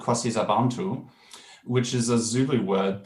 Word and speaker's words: KwaSizabantu: So that pronunciation is KwaSizabantu.